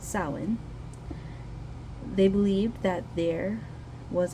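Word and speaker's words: Samhain: of the longest night of the year sin pronounced sin they believed that there was a misty Veil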